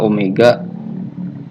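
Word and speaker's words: ω: cari kecepatan sudut atau disimbolkan dengan W ini bacanya Omega Omega atau kecepatan sudut = 2P f2v kali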